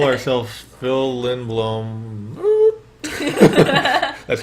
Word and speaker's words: Lindblom: And we call ourselves Phil Lindblom. That's how you pronounce that.